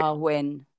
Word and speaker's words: Samhain: It's actually spelled Samhain, but it's pronounced It's Samhain. our win.